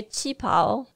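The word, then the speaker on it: qipao: might call traditional dress she's wearing a cheapo I'm sure I'm pronouncing that badly it's Qi piao is how it's usually written in English it's the somewhat traditional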